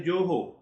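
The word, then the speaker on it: Goho: You just check the Joho.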